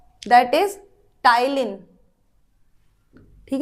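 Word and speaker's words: ptyalin: टाइलिन। ठीक? अब आप ये मत बोलना मैम लिखा तो पी एल टी रही हो। तो पी इसमें साइलेंट होता है। हम प्रोनंसिएट करते हैं उसको टाइलीन।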